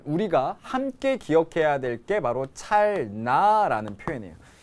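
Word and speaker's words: 찰나: 함께 기억해야 될게 바로 찰 라는 표현이에요 우리가 찰라 찰라 이렇게 발음나는 대로 하지만 나라는 불교 용어는 두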